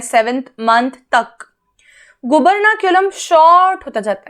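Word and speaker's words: gubernaculum: गुबर्नाक्यूलम, pronunciation बताया, गुबर्नाक्यूलम एक fibrous cord जैसा स्ट्रक्चर है, ठीक है।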